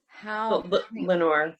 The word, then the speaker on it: Lenore: Lenore, yeah.